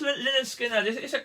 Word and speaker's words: Lynyrd Skynyrd: But that's pronounced Lynyrd Skynyrd.